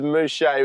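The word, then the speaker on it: Muchea: The suburb was Mushe which is spelled M U C H E A and Rean a couple years ago was just Manish.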